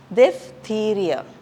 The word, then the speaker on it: diphtheria: In the next one we have PH, which gives the F sound. So this is diphtheria, okay.